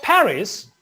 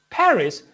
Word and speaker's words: Paris: paris if you say paris paris paris for example they call it you know they do not pronounce in french we do not pronounce the last consonant final consonant in french so you know uh